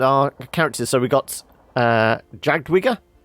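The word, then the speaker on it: Jadwiga: And our characters, so we got Jagdwiga. I guess the W is pronounced as a V, isn't it? Jagdwiga.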